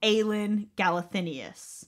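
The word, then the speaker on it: Aelin Galathynius: that's trying to track down the Lost Princess aen galenus you are pronouncing that way by the way what you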